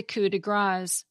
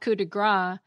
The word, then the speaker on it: coup de grâce: And the finishing touch on a job is the coup de grâce, because grâce is spelled G-R-A-C-E. It's not coup de grâce, which literally means a strike of fat.